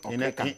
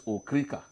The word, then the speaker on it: Okrika: So today we call it Okreka. In exchange for people who own No, of and sell. course. So that name Okreka came from. They call it Okay. Okrika. Yeah. But the correct pronunciation is Okrika.